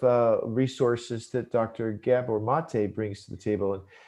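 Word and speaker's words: Maté: video at silquest you know from dr gabor mate and uh he has a lot of great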